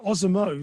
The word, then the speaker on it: Osamoh: That is very close, Osamoh. So I'll give you the American Okay.